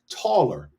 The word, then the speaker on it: Tele: Tele would be pronounced taller, Taller.